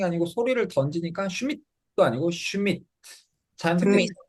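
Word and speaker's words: Schmidt: 그 다음 얘는 한음절로 발음해야 됩니다. 슈미트 삼음절이 아니고 한음절로 항상 음절 단위로 소리를 끊는 연습을 하는 게 좋습니다. 읽어볼까요? 슈미트. 슈밋. 그렇죠.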